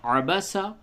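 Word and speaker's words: عَبَسَ: کا ہجے کر لیں۔ عین زبر ع، با زبر با، سین زبر سا، عبس، واو زبر و، تا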